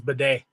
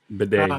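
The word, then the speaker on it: Badie: not bad or they the way he pronounces is Bedet. Bedet.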